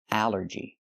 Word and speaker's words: allergy: The rule is a ll makes the sound all like ball and call, but here it makes the a sound. The short a like in an apple and black. A allergy. It's three syllables. Allergy. The stress is on the first syllable.